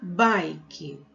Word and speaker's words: bike: Nosso próximo brinquedo é a bike. Bike, a gente se escreve dessa forma e esse i aqui, ele tem o som de ai. Então, escrevemos dessa maneira, mas lemos dessa forma aqui, certo?